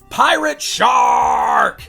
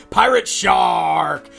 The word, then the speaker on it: Pirate Sharrrk: finish off the look pirate shark that's actually how you have to say his name because there's like three or four R's and the word shark on the back Packaging pirate shark this is awesome so